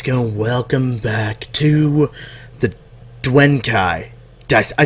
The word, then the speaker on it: Duenkhy: is a couch gonna welcome back to the duane kai dice i said it right oh my god